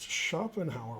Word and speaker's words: Schopenhauer: yeah exactly okay uh it's pronounced schopenhauer wow cool that is a good pronunciation okay now i will